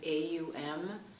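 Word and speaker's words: Aum: and I'm G to when I pronounce it I'm going to pronounce it a m even if you've seen it written the idea is that it's those three the the a the AL together in terms of sounding it so come up to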